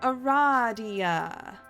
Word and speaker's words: Aradia: out loud because she immediately corrects you it's pronounced Aradia uh-huh yeah Aradia take that people who pronounce